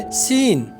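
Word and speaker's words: scene: तो सबसे पहले सीन यानी मंजर, इसमें जो है सी साइलेंट है।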